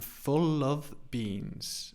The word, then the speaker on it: full of beans: at the pronunciation I'm full of beans so in the middle of Becomes of more of a the sound I'm full of of beans I'm full of beans